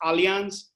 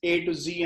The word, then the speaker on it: Allianz: People created, these influencers create their own, but basically our focus was that people should know that it's Allianz, it's A to Z, and this is how it is pronounced.